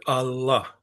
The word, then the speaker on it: Allah: If you listen to the word Allah, you hear how there's the first syllable of Allah is longer than the second syllable.